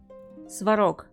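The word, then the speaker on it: Svarog: but now I'm interested Clara and swarov the pronunciation would be Clara swarov swarak is a Slavic god of fire and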